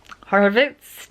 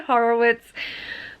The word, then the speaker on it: Horowitz: Horowitz, technically. I don't know. I say Horowitz, but in Australia, a lot of like Germanic surnames, like with the W that you would traditionally pronounce as a V, like Slavic Germanic surnames